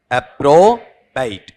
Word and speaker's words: approbate: बताओ क्या है, अप्रोबाइट। बेट है या बाइट, बाइट है।